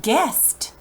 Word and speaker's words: guests: this is a person it says guests the U is silent guests like if someone